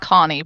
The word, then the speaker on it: Koni: I'm good, and it's pronounced Connie, but that's okay.